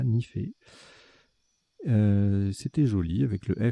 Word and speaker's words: nifé: On a joué Nifé, N-I-F-E. Vous aurez la définition tout à l'heure, ça se prononce bien comme ça, Nifé.